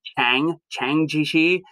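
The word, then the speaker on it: Chiang Kai-shek: And then you have Chiang Ji-shi, or sometimes I'll hear it pronounced like not with a J, but a CH, like Chiang Ji-shi.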